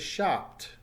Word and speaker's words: shopped: The past tense is shopped. Notice the T sound at the end as the P is not vibrating.